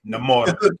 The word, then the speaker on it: Namor: Say his name right, Namor.